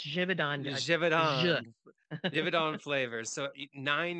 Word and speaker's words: Givaudan: can you help me jidon it's Swiss it's jivon jivon jidon flavors so